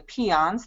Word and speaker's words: Piceance: And in Colorado, we have the Piceance. That's how the basin in the west is pronounced.